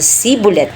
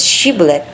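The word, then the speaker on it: Shibboleth: Ang hindi makapagbibikas ng tamang tunog na SH at nagsasabi ng sibulet imbusiness shibulet ay igad na huhulihin at papatayin.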